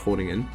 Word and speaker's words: Groningen: Like, there's a reason I prefer Groningen, the Groningen, I'm pretty sure it's pronounced Groningen.